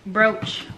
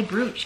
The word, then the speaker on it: brooch: it says maltese bru broach i always want to say bruce because that's how it's spelled what else ah we